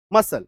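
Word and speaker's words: muscle: कोई संदेह इस रूल का सिंपल एक एक्सेप्शन है। That is मसल। एस सी के बाद देखो एल है। लेकिन उच्चारण क्या हो रहा है? दंत स ही हो रहा है। इसमें सिर्फ आपको एक अपवाद रखना है। रूल टू the exception. Exception to द रूल। Sorry क्या है? मसल।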